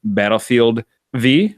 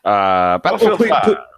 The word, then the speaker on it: Battlefield V: Lausman, Battlefield V, I believe they pronounce it. No, we've been over this. Battlefield 5. Please elaborate. Yeah, Battlefield 5 is in the Roman numeral that looks like a V.